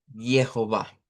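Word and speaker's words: Jehova: En primer lugar, la palabra que nosotros decimos Jehová en idioma dodge sonaría más bien como una como para nosotros como una y entonces tendríamos que decir algo como y y o eso es como tildado. Jehová Jehová. Entonces, Yova. Así sería el aunque vean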